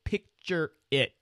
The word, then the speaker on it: Pixrit: to say it but apparently you say it picture it get it picture it